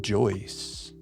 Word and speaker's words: Joyce: How about Joyce? James Joyce. That doesn't fit. I feel like that's such a smart thing that we just did right there, but it's not right. James Joyce does rhyme with voice.